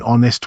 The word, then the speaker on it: honest: An honest woman and an excellent teacher. Honest has a silent H and excellent begins with a vowel sound.